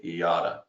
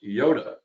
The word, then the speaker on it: Yotta: we get asked is how do you say iata and right here a lot of people call us Yoda uh which is you